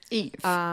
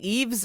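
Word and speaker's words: IVE: in hell by I Eve Eve Eve and in my head I was like don't say it wrong cuz I was saying evees IES Eve okay like Eve S laurant I should remember that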